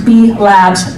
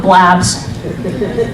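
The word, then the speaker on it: B-Labs: the bottom right so pronounce beef labs not blab so be labs cancel personal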